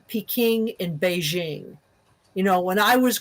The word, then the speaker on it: Beijing: I was growing up Beijing was referred to as piking because that was an older way of romanizing one dialect of Chinese but Beijing reflects more closely the it's a different romanization that reflects more closely the dominant pronunciation of the dominant dialect which is Mandarin in um China so